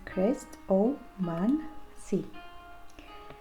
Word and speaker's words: Chrestomanci: You pronounce it as Chrestomanci.